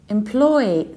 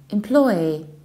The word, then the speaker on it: employee: word is employee employee so you stress the second syllable claw exactly the very same way you stressed employer employer employee employee that's the most popular English pronunciation of this word employee we can also hear